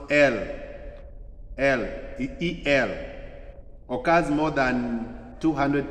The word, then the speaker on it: El: There is El, pronounced El, E-L, occurs more than 200 times in the Old Testament.